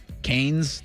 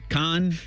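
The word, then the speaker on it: Cannes: It wouldn't be Canes cuz that's chicken fingers at K. Khan.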